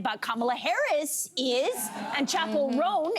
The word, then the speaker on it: Chappell Roan: Kamala Harris is, and Chappell Roan, am I saying that correctly? That's right.